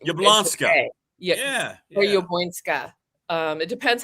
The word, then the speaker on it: Jabłońska: Are you can do the full Polish, Jabłońska. Jabłońska? Some people just will say Jablonski in the United States.